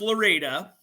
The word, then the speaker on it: Lorida: It's Lorida, Florida. Yeah. I know it's pronounced Loretta, but it's spelled Lorida, Florida.